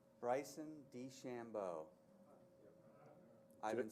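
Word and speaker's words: DeChambeau: four times in the top 25 she even pronounce this guy's name correctly bryson d Shambo I've been saying this for three days now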